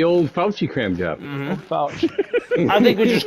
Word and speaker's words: Fauci: How do you pronounce his name, right? I thought it was Frouchy.